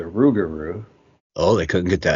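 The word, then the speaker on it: rougarou: Technically, yes, we know it's the Rugaroo, but the reason there's a misprononunciation was because the local Blackfoot tribe had a very difficult time pronunciating loop guru, changing it to the Rugaroo.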